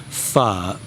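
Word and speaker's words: phở: So that's pronounced far far f far f far f far.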